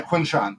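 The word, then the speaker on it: Quinshon: And then, um, is it Quinn Sean or how do you say his name? Yeah, Quinn Sean.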